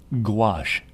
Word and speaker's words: gouache: It rhymes with wash. So Keenan, can you demonstrate? Gouache.